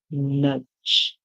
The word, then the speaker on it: nudge: Like in this word, nudge, nudge. So here only the first two letters mean up, then here J, nudge. The D and the E is silent.